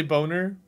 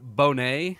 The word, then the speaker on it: Bonet: Bob is Stanley Boner. It's pronounced Bonet. Ah, it's French.